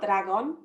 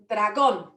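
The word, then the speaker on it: dragón: on the o there so it's not dragon it's dragon and the letter d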